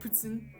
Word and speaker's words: poutine: oh yeah um the the proper and correct pronunciation of poutine is um you gotta write you gotta get real quebecois okay you gotta get in the headspace and you gotta say i like putzin you know you gotta